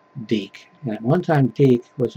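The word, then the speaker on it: DiC: is from and circle entertainment originally made by deke what some people would mispronounce their their name because it spelled di see I'm not going to tell you how they would pronounce it probably but it's pronounced deke and one time teeth was owned by Disney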